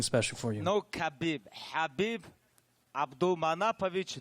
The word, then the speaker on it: Khabib: And my man, Khabib, just in case, if you don't know how to pronounce his name, I recorded something special for you. No Khabib. Habib Abdulmanapovich Nurmohamadov.